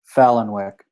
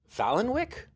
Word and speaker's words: Palahniuk: How do you pronounce his name? Palahniuk. Fallenwick.